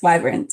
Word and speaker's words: Wyverns: Wyverns. Yes. Wyverns.